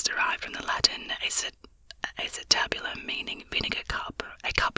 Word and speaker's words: acetabulum: not sure how to pronounce this it is pronounced acetabulum acetabulum there you go a noun one in anatomy